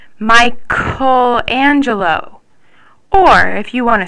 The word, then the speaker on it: Michelangelo: move on to G's if you want to keep the soft k sound before an e or an i you have to insert an H so c h e